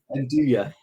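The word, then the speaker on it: 'nduja: Is it Enduya? Enduya.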